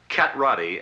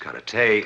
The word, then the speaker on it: karate: Karate, as you call it, correctly pronounced karate, is a defensive form.